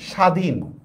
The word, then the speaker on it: স্বাধীন: Same দেখেন স্বাধীন, দেখেন তো এখানে কি উচ্চারণ হয়? বফলার কি উচ্চারণ হয়? উচ্চারণ হয় না, একেবারে সহজ।